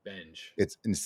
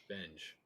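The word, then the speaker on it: Benge: Benj, It's not Bengi, not Benji. Benj, Benj. It's the It's Benj. like engine with a B without the ine.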